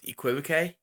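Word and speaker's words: equivoque: I'm saying this correctly you quit ok used to say it a different way but apparently I was saying it wrong so to pronounce equipo que and it goes like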